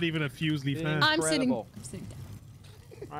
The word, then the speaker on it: Fuslie: right all right all right anyway no it's pronounced foosley trust me i know i follow her second